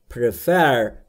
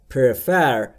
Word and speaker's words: prefer: دوستان تلفظ prefer رو دقت بکنید. prefer یا prefer یا هر چیز دیگه ای نیست. بین P و R صدای شما مشاهده نمی کنید. پس تلفظش میشه prefer, prefer, prefer.